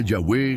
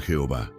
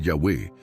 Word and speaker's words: Yahweh: que se convirtió en Jehová. Pero la mayoría de los eruditos hoy están de acuerdo en que Jehová es un híbrido hecho por el hombre, no la pronunciación original.